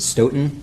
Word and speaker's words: Stoughton: Is it Stoughton or Staunton? Because think I've screwed that up several times. I've always pronounced it Stoughton, Stoughton, but I'll well.